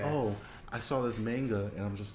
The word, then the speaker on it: manga: hear it, I'm just like, it's not a manga. It's pronounced manga.